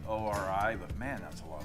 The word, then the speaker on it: ORI: And I think Ory pronounces their company O R I.